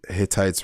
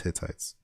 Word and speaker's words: Hittites: You know, I kept saying Hittites wrong. I was like Hittites. Oh my lord. I was saying it wrong the whole time. Hittites. It was Hittites. It's just because like sometimes there's too much T's, and I'm just like Hittites? But it's Hittites.